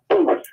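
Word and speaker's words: Boothe: B-O-O-T-H-E. Like boot, and then H-E at the end.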